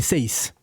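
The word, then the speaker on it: Saïss: Il s'appelle Seiss. Ah, bah dis donc, ça s'écrit pas comme moi, mais ça se prononce comme moi.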